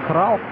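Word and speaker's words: Krul: Я обещал выяснить, кто такой Тим Краут. Совсем молодой голкипер, именно так произносится его фамилия.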